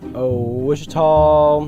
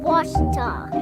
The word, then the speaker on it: Ouachita: Back in Texas, everybody pronounces it Wichita, but really, it's Ouachita. Ouachita. Washita. How would you pronounce it? Ouachita. Ouachita. It's Ouachita Baptist University. Get it right. It's Washita, people.